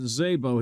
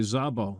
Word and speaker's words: Szabó: Joe who pronounced it Zabo he Americanized it but the Hungarian pronunciation would be Zabo of course E4 from